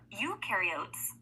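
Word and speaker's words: eukaryotes: Ukarotes the U rhymes with do.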